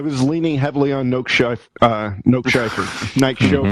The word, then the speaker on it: Nike: unforgivable almost unforgivable um nike chauffeur no that's how do you pronounce it nick nick schaefer nike nike thank you like that nice chauffeur nike chauffeur is